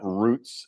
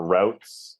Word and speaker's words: routes: can find me at roots of change or routes of change depending on how you pronounce it I guess most Americans are routes of change I say Roots I think they're kind of interchangeable okay anyways r o